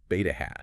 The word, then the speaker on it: beta hat: It's pronounced beta hat.